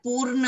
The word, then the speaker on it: पूर्ण: बेटा पूनम होती है, आपने पूनम अलग होता है, पूर्ण अलग है। देखो दोनों में बोलने में भी फर्क है, स्पेलिंग भी अलग है।